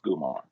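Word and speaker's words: comare: spelled c-o-m-a-r-e but pronounced gumar so it throws me on it's it's starts with the c but it's pronounced the hard g yes that's dope i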